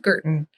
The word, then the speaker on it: Guertin: It's Guertin is how I pronounce it. But I appreciate that is not the Francophone way of saying it.